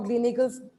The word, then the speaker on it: Gleneagles: He has done the same for Gleneagles. It's Gleneagles? Is that how we pronounce it?